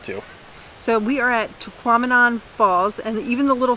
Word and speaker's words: Tahquamenon: so we are at taquamanon falls and even the little sign that when we get here says to quaminon rhymes with phenomenon so we are saying